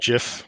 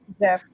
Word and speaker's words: Jif: Jif peanut butter can though. Mm-hmm. No relation. That's no. Not to be confused with a gift. Yeah. Yeah. It's not pronounced gift.